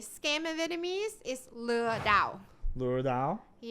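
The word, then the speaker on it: lừa đảo: how do you say scheme of vietnamese is lu dao lure dao um it helps somebody to not get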